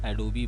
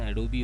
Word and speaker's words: Adobe: अब यहाँ पे देखिए एक फ़ोल्डर है एडोबी बोलकर, इंग्लिश में इसका प्रोनाउंसिएशन एडोबी होता है, कोई कोई इसको एडोब भी बोलते हैं।